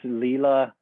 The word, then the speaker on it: Leela: So we're going to dive deep into today to discussing Lila quantum technology and that's how you pronounce it, right? Lila? Philipp: Yes. Lila quantum tech.